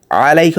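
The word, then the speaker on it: عَلَيْكَ: আসসালামু আলাইকা আইয়ুহান নাবী ওয়া রাহমাতুল্লাহি ওয়া বারাকাতুহু। এইখানে এই যে 2 নাম্বার যে ওয়ার্ডটা আছে আলাইকা, আলাইকা হচ্ছে আইন দিয়ে। আইনের উচ্চারণ গলার ভেতর থেকে করতে হবে, মুখ দিয়ে করা যাবে না।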